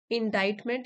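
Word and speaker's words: indictment: देना next word है इंडा इट मेंट इनडाइन मेंट यहां पर सी साइलेंट है मींस आरोप पत्र अ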